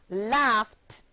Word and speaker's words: laughed: el a ugh Edie and it's pronounced laughed farming only one syllable another one the verb